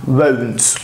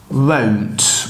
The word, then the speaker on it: won't: Bak, won't. Unutma. Şurayı yazayım. Tamam arkadaşlar. Şöyle yazacağım. Bakın bu. Won't. Bunun okunuşu böyle. Won't. Bu won't değil. Tamam mı? Won't. Eğer won't diyemiyorsan ö'ye yakın bir şey söyle.